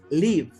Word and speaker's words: live: Live. Esta palabra, qué bueno que salió, tiene dos usos, como verbo y como sustantivo. Aquí funciona como un verbo, es decir, una acción. Cuando es verbo se pronuncia live, pero cuando es un